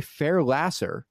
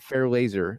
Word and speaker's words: Fairlasser: It is Fairlasser, not Fairlaser, sadly.